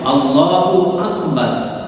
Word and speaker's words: আল্লাহু আকবার: যাবে তেমনি ভাবে আকবার এই আকবার শব্দটির উচ্চারণেও কেউ যদি বলে আকবার বার লম্বা করে বা লম্বা করে তখনও তার এই নামাজ নষ্ট হয়ে যাবে তাই তাকে উচ্চারণের সময় আল্লাহু আকবার আল্লাহু আকবার এইভাবে উচ্চারণ সঠিক করে নিতে হবে আরেকটি হচ্ছে জামাত সালাত